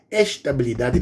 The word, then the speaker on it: estabilidade: Vou pronunciar como os brasileiros, abrir todos os acentos das vogais. Estabilidade. Porque se eu falar estabilidade, a pessoa pode confundir, pensar que estou falando de instabilidade.